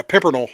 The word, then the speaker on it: Pimpernel: the flowing the the the I'm going to butcher the dude's name, the Scarlet Pimp. Pimpel. Yeah, Pimpernel.